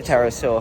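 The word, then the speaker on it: Pterosaur: sure I'm fighting the terrorist saw there we go I have to remember because there's a silent p in it um when I first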